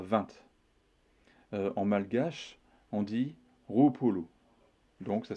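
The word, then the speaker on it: roapolo: Ainsi, pour dire 20, en malgache, on dit Roupolu. Donc ça s'écrit R-O-A-P-O-L-O.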